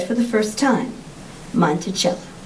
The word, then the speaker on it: Monticello: gardens and the mountains beyond then he said monticello phonetically as monticello little monk aha jefferson noted your cee is